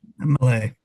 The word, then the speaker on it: Milei: Javier Milei, I think it's Milei or Millie. What is that? How did we pronounce that, Ben? Malay.